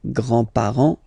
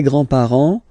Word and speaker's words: grands-parents: Remember, you don't pronounce this final S here, grands-parents, okay?